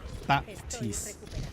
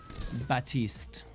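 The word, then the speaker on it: Baptiste: until yeah it's back baptise well batiste the P is silent be a PT is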